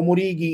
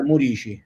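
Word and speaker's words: Muriqi: Allora, Stefano ci ha detto che si dice Murici, io pure lo chiamavo Murichi, in realtà la pronuncia è Murici.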